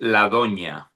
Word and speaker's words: La Doña: O D-O, we have a letter in our alphabet, which is the N with the little thing on top. It's called Yeah. Yes. Ñ and A.